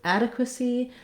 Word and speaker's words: adequacy: So we still have first syllable stress and that a vowel, that's our long syllable. Then our reduced I or vowel, ada. Then we, rather than having a T sound at the end, we have the letter C says the S sound, and then we have the letter Y saying the tense E.